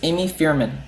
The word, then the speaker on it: Amy Feierman: special guests on the show her name is Amy Fierman I pronounce that Kirk yes you did she's a